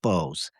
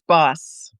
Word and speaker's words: Bos: with the case of Gina Bose. Am I pronouncing that right, Janelle? It's Boss. Boss. Okay. I've heard it two different ways, so I want to make sure that I get it right.